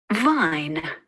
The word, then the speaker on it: vine: When we put V with the letters I-N-E, eine, we make the word vine.